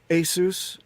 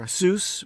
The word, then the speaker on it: ASUS: So Asus or Asus, which is supposed to be the end of the word Pegasus. So you can decide how you pronounce it, but ASUS, Asus.